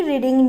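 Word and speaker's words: read: सपना सुबह अखबार क्यों पढ़ रही होगी, व्हाई विल सपना बी रीडिंग newspaper in the morning, क्यों पढ़ रही होगी। रीड होता है, प्रोनाउंस रेड करते हैं सेकेंड फॉर्म को, लेकिन स्पेलिंग सेम ही रहती है।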